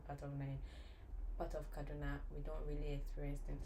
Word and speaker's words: Kaduna: Again, Kaduna.